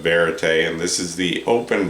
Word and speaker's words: Verite: I'm pronouncing that right, Verite. I don't think it's V-right like it's spelled, so anyway, I'm going to go with Verite, and this is the open back version of that headphone.